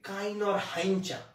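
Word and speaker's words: Kinorhyncha: আমরা, কে তে কি, উচ্চারণটা একটু অদ্ভুত মনে রাখতে হবে, অদ্ভুত জিনিস মানুষের মনে থাকে বেশি, পড়া মনে থাকে না। উচ্চারণটা হচ্ছে কাইনর হাইঞ্চা, উচ্চারণ কি, কাইনর হাইঞ্চা।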